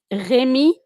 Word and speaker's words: Remy: Remy. So it's Remy from Marseille.